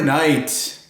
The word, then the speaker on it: knight: eating fajitas in Juarez k is for night hmm oh not like day and night but like a knight in shining armor the noble knights knife